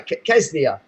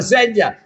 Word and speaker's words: Ksenia: don't know how you say her name, K-S-E-N-I, Kesnia. And you know, Ksenia. Oh, Xenia.